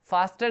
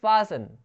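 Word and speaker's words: fasten: फास्टन नहीं बोलते, इसको बोलते हैं फासन, टी साइलेंट।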